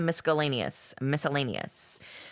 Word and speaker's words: miscellaneous: So now we are in the miscellaneous, because apparently you're not supposed to pronounce the fucking C in miscellaneous.